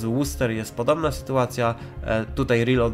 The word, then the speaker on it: Worcester: Nie czyta się tego Worcester, Worcester, czyta się to Worcester, Worcester, tak jakby było w o. Podobnie, a dalszą część jak w wyrazie Leicester, czyli nazwa miasta brytyjskiego,